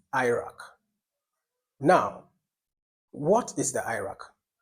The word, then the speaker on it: AIRAC: an approach there is a method called the Iraq. Iraq is the initials of a whole system. Now, Iraq is spelled A I R A C. A I R A C. Iraq.